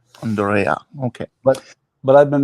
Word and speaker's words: Andrea: It is in German. The correct pronunciation is Andrea. Andrea.